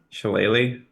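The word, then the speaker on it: Shillelagh: begins to sprout again so he casts uh sholay or however that's pronounced sheleighly thank you I always forget and uh and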